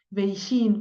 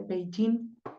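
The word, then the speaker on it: Beijing: se escribe así y mucha gente dice beijin pero en realidad se dice peí es la forma en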